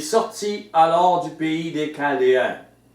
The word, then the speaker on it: Chaldéen: Il sortit alors du pays des Chaldéens. Parfois ça s'écrit CH, parfois juste CA. On prononcerait Chaldéen.